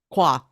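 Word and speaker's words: croire: Croix. That's how you pronounce it.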